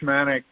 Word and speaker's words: shaman: we talked about the shamanic uh tradition uh by the way you were uh always using the american pronunciation shaman yes and i was using the english pronunciation shaman uh but they're the